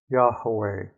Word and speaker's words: Yahweh: Yahweh. Now I place an accent on the last syllable.